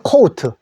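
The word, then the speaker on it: coat: 자, 코트라고 우리 위에 입는 옷을 하는데, 영어로는 요 소리를 오우로 내 주십시오. 요 오우 소리. 우리는 그냥 코트라 하는데, 코우트. 아시겠죠?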